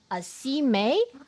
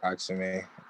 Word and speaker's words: Accime: A C May? A C. Sorry. Yes. Well, that's pronounced Axime.